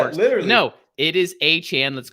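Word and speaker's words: Achane: It's A-Chan. Oh no. It's not pronounced A-Chain.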